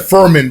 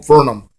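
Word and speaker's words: Fernum: And he said Furman, but his name is Norm Furnham, which is pretty Peter Avalon in the Indies.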